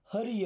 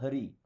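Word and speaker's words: hurry: अभी अगर यू के बाद में आर आ रहा है ना, इसको आ की तरह उच्चारण करते हैं, तो ये क्या हो जाएगा? हरी। हुरी नहीं, हरी।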